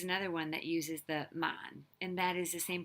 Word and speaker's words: 萬: course the ten thousand which is the same pronunciation mon just the low tone mon okay so um and